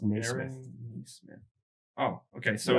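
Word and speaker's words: Nesmith: smith knee smith okay there's no i in it by the way yeah no it's just new smith smith oh okay so it's definitely not so maybe it's yeah denise smith sorry if we've butchered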